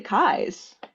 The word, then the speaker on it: Keyes: It's actually Kai's, but Keyes, you pronounce it Keyes. I don't expect anybody to know that. Yes, Um, Keyes. it's It's related to Scottish Mackay or oh, very Mackay, nice. Oh, yeah. Nice. or also Irish. Yeah. And Right. my yeah, paternal side of the family just decided that they were going to pronounce it Kai's.